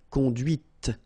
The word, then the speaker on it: conduite: and then the feminine, conduite. Okay, so here you can listen to this t, t, okay, conduite.